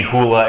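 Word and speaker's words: Hula: looking up things today it might just be hoola as in the hoola dance uh that's it's how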